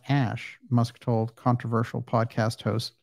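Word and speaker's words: Æ: Musk then they're like AE is pronounced Ash musk told controversial podcast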